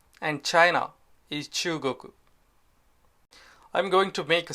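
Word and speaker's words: 中国: in Japanese India is Indo and China is Chugoku I'm going to make a separate video to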